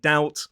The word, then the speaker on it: doubt: Even though those words or letters were never pronounced in English, these scholars added a B in words like debt and doubt to make it look a bit more Latin.